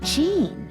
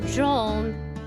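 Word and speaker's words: Jean: it now that's it tell me about gene hello it's pronounced john he was killed by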